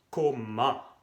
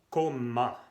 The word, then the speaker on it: comment: Y el otro se escribe y se pronuncia coma. Todavía son dos M y al final la E, la N y la T se pronuncia en, coma.